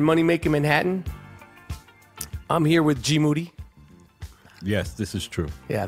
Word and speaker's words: GMoneti: Last name rhymes with confetti.